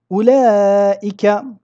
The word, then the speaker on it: أولئك: Quant à ulaika, ici, nous le prononçons ulaika. Nous ne prononçons pas ici el waw, malgré que nous l'écrivons.